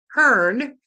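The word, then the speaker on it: cairn: mound of rough okay a mound a Hearn is how it's pronounced is a mound of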